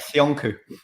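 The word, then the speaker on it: Söyüncü: They're put a ball playing centre back, Soyuncu as well. Yeah, even Demiral as well. No one knows what to talk about. Sionku. Sionku, yeah. What about Robbie? Robbie's pronunciations, man, they're the worst.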